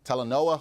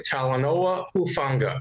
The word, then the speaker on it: Talanoa: up with Niners safety telenoa hufunga and now let's catch up with Steve about his latest q a Steve how's it going it's doing good you pronounced that perfectly talonowa very nice I I try